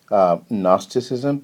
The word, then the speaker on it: gnosticism: problem so it's pronounced gnosticism the g is silent and the word comes